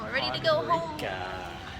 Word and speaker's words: Podgorica: It's pronounced Podgorica, not Podgorica, we found. But we're at the bus station. We're ready to go home. Podgorica.